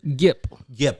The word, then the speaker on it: Gip: I'm not sure if Jip has listened to Me Against the World recently. Gip. I'm sorry. Hard G. Hard G. Hard R.